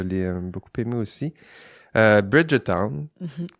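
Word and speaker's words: Bridgerton: beaucoup aimé aussi euh Bridgeton Bridgeton aussi c'est plus comme ça qu' faudrait le prononcer j'ai écouté ça aussi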